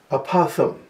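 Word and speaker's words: apophthegm: best one of all apothem that's actually how it's pronounced from the greek a pop famous thai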